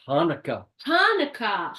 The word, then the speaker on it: Hanukkah: It's pronounced Hanukkah. Hanukkah.